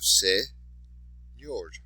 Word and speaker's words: señor: So, once again, for señor, you have señor, last syllable, so that's where your stress would be.